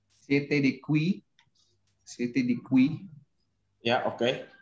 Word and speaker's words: qui: Jadi itu untuk pelafalannya itu qui ya Kak ya, bukan ki ya.